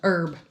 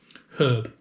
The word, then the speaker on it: herb: uh pronounced differently uh herb herb i have to really try on that though yeah with your h's but the thing is growing up i always said herb because there's an h in it and as far like